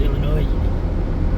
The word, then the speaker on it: Illinois: I used to think it was Illinois. Well, it kind of looks like Illinois, but I'm pretty sure it's pronounced Illinois.